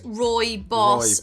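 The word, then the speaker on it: rooibos: rory boss before and people always say you're saying it wrong so i don't know how you're roy boss roy boss pronounced roy boss only grows wildly in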